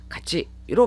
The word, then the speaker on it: がち: 다른 단어 뒤에 붙여서 카가 아니라 같이 니고리가 붙은 가치로 발음이 되는데 이것은 JLPT 엔트급 단어로